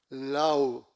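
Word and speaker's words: lawh: A lion lau l a w h.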